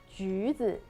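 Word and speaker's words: 橘子: tangerine, Mandarin orange, because 橘子, 橘子, that's in 橘子 Chinese, Juice. it sounds like 吉, 吉, 吉 means lucky, luck.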